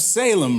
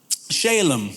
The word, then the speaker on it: Salem: Okay, so he's also said to be the king of Salem, right? Or Shalem, depending on how you want to pronounce it.